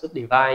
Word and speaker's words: subdivide: Nó ghi là subdiv nhưng mà các bạn cứ đọc là subdivide nhé, tại vì cái tên đúng của nó là subdivide, cái này chỉ là từ viết tắt thôi.